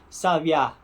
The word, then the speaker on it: sabiá: um nome Tupi né em Tupi a pronúncia seria mais ou menos sabiá sabiá sa bem parecida é só um pouco diferente por causa justamente do B que eu falei né sav tem esse som B em Tupi em outras palavras